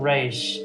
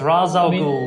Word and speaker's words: Ra's al Ghul: Ra's is really cool, and it is Ra's. I don't care what the cartoon says. It's not Raish. It's Ra's al Ghul, because that means the demon.